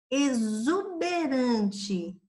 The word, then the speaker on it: exuberante: Exuberante, o X aqui já está com som de Z, exuberante.